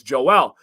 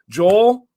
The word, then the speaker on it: Joel: It's pronouncing the J like Jose, right? Like never would have crossed. You got Joel, Joel, and Joel.